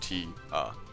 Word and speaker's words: Tia: For a male seeker of the sun, there are only two positions available: breeding males, pronounced noon, and all others, the Tia, pronounced T-A.